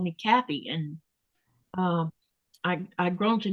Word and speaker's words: Kathy: over here to Greenland, that TH sound that we have in my name, it's not one of the pronunciations that's spoken over here. So a lot of Danish people will say Katie instead of Kathy.